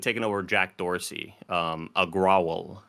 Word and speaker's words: Agrawal: over jack dorsey um agrowl i believe is that's the way you pronounce their name uh it's unclear whether